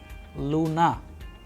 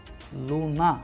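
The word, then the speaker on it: Луна: Now, the letter L, as we have used the example of English L in pill, and in Russian we have used the word Luna, Luna, which means moon.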